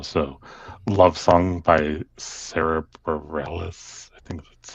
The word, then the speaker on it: Bareilles: So, "Love Song" by Sara Bareilles, I think that's how you pronounce it. Yeah, Sara Bareilles.